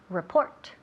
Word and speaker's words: report: Ok, quita el sonido rrr, quitamos eso. R. Y también el acento, o sea, el énfasis recae en la segunda, no la primera, pero la segunda sílaba. Report.